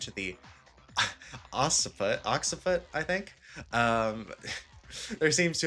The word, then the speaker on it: occiput: I'm pretty sure it's like almost like an X sound, like double C, so it's like occiput.